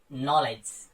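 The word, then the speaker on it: knowledge: आपको ध्यान में रखना, अगर के बाद एन आता है तो उस कंडीशन में आपका के साइलेंट हो जाता है, जैसे नॉलेज। तो स्टार्टिंग में के आया देखो तो ये साइलेंट हो गया हमारा, के तुरंत बाद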